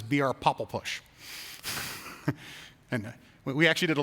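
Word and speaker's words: BRPOPLPUSH: pop l push and i always pronounce it as br popple push and we actually did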